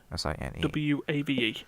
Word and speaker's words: Sine Wave: One was an iOS game called Synwave. But yeah. So this one is Synwave. You are, How do you spell that? S-I-N? SINE S-I-N-E. WAVE.